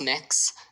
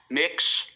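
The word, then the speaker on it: Mx.: It's pronounced mix. Um, mix.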